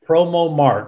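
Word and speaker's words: PromoMarque: Jennifer Land, my wife, why don't you say a few words about a business called PromoMark? Write this down, P-R-O-M-O. And the next word is Mark, but it's spelled different, M-A-R-Q-U-E.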